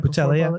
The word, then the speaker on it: Boutella: Boutella, yeah.